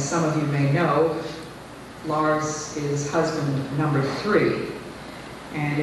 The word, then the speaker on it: Lars: mr elliott iii his name is really lars rhymes with stars grin rhymes with red